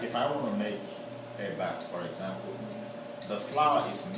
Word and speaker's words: eba: Yeah, but the part that I am from, you know, the common food is there's a food we call eba, EBA, you know, and inyo. Inyo is spelled IYAN.